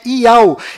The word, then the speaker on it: YAUH: nome do criador é tchau e a última letra do seu nome tem som dh mudo que do qual não altera a pronúncia desse nome e o seu filho